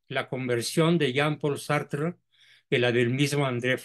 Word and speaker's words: Sartre: y se pronuncia sartr porque el francés se come la e final sí Entonces corrígelo por